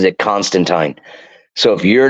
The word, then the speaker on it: Constantine: because I heard Neil pronounce it and he pronounces it Constantine so if you're not saying Constantine you're saying it wrong according to Neil gaming